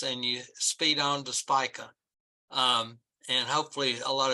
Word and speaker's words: Spica: I've uh look I I've produced it pronounced it speaker for years but the actual pronunciation is Spica uh and so uh